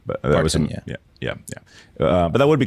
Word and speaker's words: Parton: Chihuahua would look amazing in one of these Doggie Partons. That's Oh, I'm sure my girlfriend will buy one of these. it's definitely Ton. It's not Done. It's her last name, not Pardon. But that was Parton, yeah.